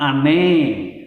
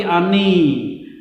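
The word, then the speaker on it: אני: seorang pria, dia mengatakan ani ohef, bukan ohet, ohef otha, bukan atah, otha. Itu yang benar ya, seorang pria mengucapkan rasa kasih sayangnya kepada seorang pria, bukan ane, tapi ani.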